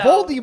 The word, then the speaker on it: Voldemort: Well, also Voldemort is apparently how you pronounce his name. So Voldemort.